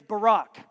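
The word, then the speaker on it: בָּרַךְ: is used here is Barack pronounced like the President Barak God Barak creation the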